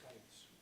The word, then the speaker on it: CAETS: Pronunciation of CAETS is CAETS.